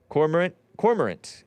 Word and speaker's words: cormorant: Cormorant is how you pronounce it, right? Double-crested cormorant. C-O-R-M-O-R-A-N-T. And the A-N-T is kind of like pheasant. That kind of cormorant.